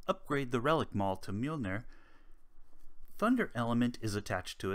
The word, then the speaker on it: Mjolnir: As some people know from the Marvel comics and most recently Marvel movies, it is pronounced Mjolnir in Icelandic.